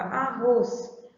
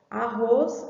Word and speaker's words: arroz: Quando eu pronuncio a palavra arroz, arroz, a gente já sente, né, pelo som que o roz é a sílaba forte, mas tem algumas palavras que a gente fica em dúvida.